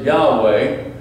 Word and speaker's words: Yahweh: the name the Hebrews didn't pronounce it's we pronounce it Yahweh and his balance chapter 12 and verse 1